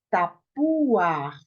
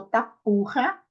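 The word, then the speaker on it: תפוח: Tapuar. Isso, tapuar. Se você pronunciou tapurra, você errou, tá? Não é tapurra, é o quê? Tapuar. O re vem no final.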